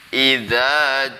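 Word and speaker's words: إذا: Kemudian ayat yang pertama, idza jaa nasrullahi wal fath. Idza itu lidahnya harus keluar dari gigi karena makhrajnya huruf zal itu ya lidahnya keluar dari gigi yang atas ya. Idza gitu ya santri semuanya.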